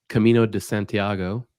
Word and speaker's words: Camino de Santiago: And I want to make sure I pronounce it right. Camino de Santiago.